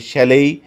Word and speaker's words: chalet: 3 নম্বরে আছে শ্যালেই, বানানটা হচ্ছে CHALET, কিন্তু উচ্চারণে যথারীতি টি উচ্চারণ করা যাবে না, বলতে হবে শ্যালেই, এক জাতীয় কাঠের বাড়ি কিংবা কুটির।